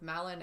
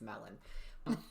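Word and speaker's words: Malin Akerman: I watched something called Chick Fight with Malin Ackerman. I think that's how you say it. I was always saying Malin, but then I saw her introduced as Melon. Oh, it sounds like you said melon.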